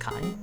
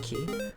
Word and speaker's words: Ki: Also, Ki is pronounced Kai, not Ki. I mean, if it's Japanese, it would be Ki, right?